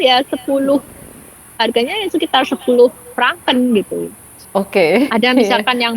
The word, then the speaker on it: Franken: Pronoun pronounce franken.